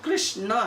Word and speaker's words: कृष्ण: जाए तो गलत है कृष्ण का नाम जब हम उच्चारण करते हैं तो एक्चुअली वो कृष्ण है अगर उस पर आ का मात्रा लगा दिया तो फेमिनिन हो जाता है समझे क्या हो जाता है स्त्रीलिंगी हो जाता है वो कृष्णा कृष्णा